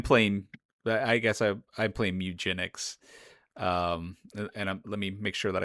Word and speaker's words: Mewgenics: I'm playing I guess I'm playing Mewgenics. Let me make sure that I pronounce that properly.